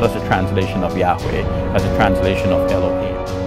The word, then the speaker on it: Yahweh: In the Bible, only the four consonants are mentioned, YHWH, and scholars now fill it out to say that Yahweh is the best pronunciation.